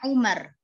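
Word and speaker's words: عمر: kalau nggak ada wownya maka bacanya Umar ya ini amrun ya kalau ada wownya amrun Kalau nggak ada wownya Umar Umar Bin Khattab itu penulisannya nggak ada wow kalau ada wownya bilangnya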